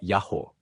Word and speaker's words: Yaho: Essa investigação leva à conclusão de que a pronúncia antiga do nome do Deus de Israel era Yaho, o que equivale a dizer que o tetragrama era originalmente um trigrama.